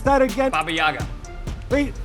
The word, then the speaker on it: Baba Yaga: How do you pronounce that again? Baba Yaga. Wait, Bayaga.